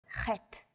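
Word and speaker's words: חית: 3 of these letters are pronounced deep in the throat. These may feel unusual at first, but are fun to say once you get the hang of them. Ein, chet, resh.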